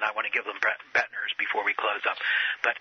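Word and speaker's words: Boettner: They can, other than I want to give them Bettner's before we close up.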